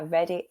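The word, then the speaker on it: Reddy: I hope those were useful and finally I'm going to introduce you to my ready acronym my surname is ready but it's spelled r-e-d-d-y this is spelled r-e-a-d-y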